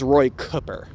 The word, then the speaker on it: Cooper: a little while, that his name actually is pronounced more of the native way to where he grew up rather than the standard Cooper. So it is Roy Cooper, for anyone who didn't know that.